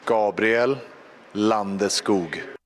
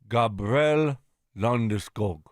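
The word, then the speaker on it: Landeskog: and the PA announcer how he wants his name pronounced in Swedish. Okay. Yeah. Check this out. Tell me this isn't hot. Gabriel Landoo. Gabrielle Landesk. Gabrielle Londog.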